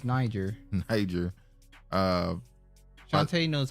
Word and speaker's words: Niger: What's the place right above Nigeria?